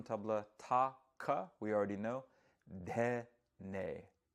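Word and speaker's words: dhene: ta-ka, we already know, dhe-ne. We spell it D-H-E-N-E. Ta-Ka-Dhe-Ne or Ta-Ka-Dhe-Ne. You'll hear me maybe go back and forth with that variation in pronunciation.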